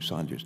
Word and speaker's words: Saunders: Mr Saunders you repr pronounce your name Saunders don't you we have a a fellow on on our team here pronounce his name Sanders so try not to confuse him I'm sure you